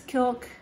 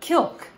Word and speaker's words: Kilk: before called kilk and i'm imagining it's kilk like it rhymes with milk or silk but kilk and they are a